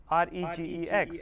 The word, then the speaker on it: regex: Regular expression is also known as a regex, R-E-G-E-X, where G will be pronunciation as a silent, so regex.